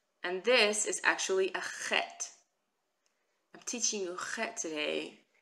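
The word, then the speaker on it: חית: But the ch is not pronounced like ch, it's pronounced ch. Like Bach, when you try to say the composer's name Bach, it's a similar sound.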